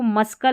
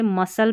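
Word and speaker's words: muscle: जैसे इसको मस्कल नहीं पढ़ते हम कभी भी, मस्कल नहीं, इसे मसल पढ़ते, जो मांसपेशियां होती है ना इसको मसल पढ़ते हैं।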